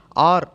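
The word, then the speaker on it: hour: ஐ two physical exercises at 6 AM அண்ட் ஃபார் ஆன் ஆர், H silent, அதனால் அதை உச்சரிக்கக்கூடாது, ஆர் அப்படின்னு தான் சொல்லணும்.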